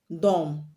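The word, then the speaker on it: dumb: so we have md at the end of a root word the b will always be silenced now let's look at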